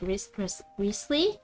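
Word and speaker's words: Wriothesley: I mean, like, it is pronounced as like Risley, like Risley, like, cause you don't. It's like, Worcestershire sauce.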